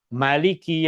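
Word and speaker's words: ملك: Perkataan Malik, huruf mim dibaca dengan baris fathah tanpa huruf alif dibaca pendek. Maliki yaumiddin. Dan Rasulullah sallallahu alaihi wasallam juga mengajarkan ayat yang sama, perkataan yang sama dibaca dengan cara bacaan yang berbeda, yaitu dengan membacanya dua harakat.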